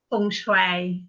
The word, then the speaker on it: Feng Shui: that right how do you say font truth Fung Shui oh yeah I always make things right for